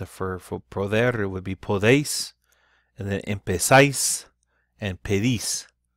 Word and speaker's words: podéis: But it would be pronounced for poder, it would be podéis.